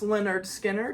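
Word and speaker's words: Lynyrd Skynyrd: Pronounced Leonard Skynyrd.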